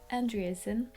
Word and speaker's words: Andreasen: is not mable it is andreasen which is the english way of pronouncing it that's also why my